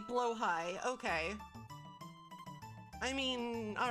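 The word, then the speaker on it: Blåhaj: spelled like this oh it's technically blow High okay I mean all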